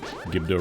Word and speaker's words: Gibdo: I just want to confirm and see whether or not the Gibdos drop a key. It's pronounced Gibdo.